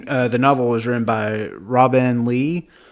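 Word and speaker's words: Robinne Lee: novel was written by Robin Lee it's spelled r o b i n n e I guess that's just another way of saying Robin but yeah so it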